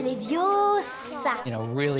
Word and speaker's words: Leviosa: Tu ne sais même pas le prononcer. C'est Leviosa.